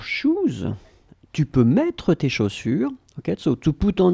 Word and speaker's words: chaussures: Chaussures, it's plural because you get two, and then you should definitely use this plural form tes chaussures. Remember, final S, chaussures, you don't pronounce it.